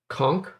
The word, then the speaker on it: conch: this conch okay so it's a hard c and sh conch all right i i